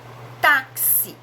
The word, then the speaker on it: táxi: Táxi. Presta atenção quando eu falo a palavra táxi. Quando eu falo a palavra táxi, esse X, ele pronuncia 2 sons, o K e o S.